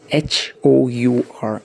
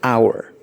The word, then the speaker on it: hour: Rather, we pronounce this word with a vowel sound hour.